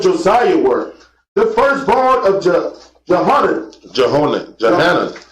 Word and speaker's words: Johanan: And the sons of Josiah were the firstborn of Johanan. The same name is pronounced Yochanan.